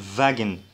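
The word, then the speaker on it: Wagen: في ده بقى اللي بيتنطق زي الفي بالانجليزي، فبنقول فاجن يعني عربيه او سياره.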